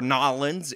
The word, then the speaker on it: New Orleans: channel out so much New Orleans or nolens if you're a local and you like the local pronunciation is one of America's